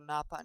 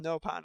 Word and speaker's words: Nopon: actually knew what a Napon is, but... Actually, I think they're pronounced Nopon in this one.